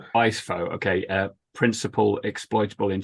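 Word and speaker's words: Weis-Fogh: Weiss fo I'm not sure if is it Weisso if I said that right? Well I voice pronounced it viso. We wiso.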